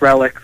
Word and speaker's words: Relix: It's pronounced Relics.